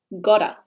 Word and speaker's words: gotta: Australia and North America that T often sounds more like a deal gotta gotta this means have